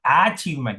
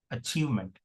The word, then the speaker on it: achievement: This particular letter A okay has two or three different pronunciations has two can be represented by two or three different sounds. In this context it is represented or it is pronounced as shwa. So it is not achievement it is achievement.